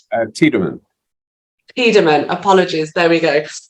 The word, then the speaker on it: Tiedemann: Did I pronounce that right? Tiedemann.